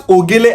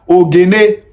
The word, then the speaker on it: Ogele: If you come to Ukwuani land, we pronounce Ogele as Ogene.